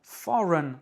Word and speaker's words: foreign: Un dernier exemple, ce mot foreign, R-E-I-G-N, n'est pas accentué puisque c'est for qui est accentué. Foreign, R-E-I-G-N se prononce run.